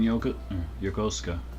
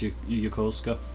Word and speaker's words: Yokosuka: I thought you were working in Yokosuka. Pardon if I'm pronouncing things incorrectly. I'm trying to work on Japanese pronunciation and stuff, but I believe it's Yokosuka.